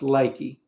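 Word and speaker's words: Leakey: L E A K E Y but it's pronounced Lakey and uh but it's over it's almost west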